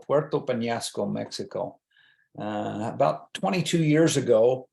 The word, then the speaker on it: Peñasco: a Spanish background, Peñasco, I always have to say Peñasco and make sure people understand how to pronounce it, because people are very quick and ready to say Penasco, and that grates with